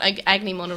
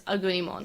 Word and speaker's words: Agunimon: Do not Agnimon around. It's in my subtitles. That's what I read. Yeah, it's because that's what it's named after. But in Japanese, the pronunciation is Agunimon.